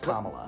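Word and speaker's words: Kamala: of the policies of Camala Harris there are Haitian immigrants eating cats and dogs in Springfield Ohio just to clarify that is a lie and also her name is pronounced comma well we also agreed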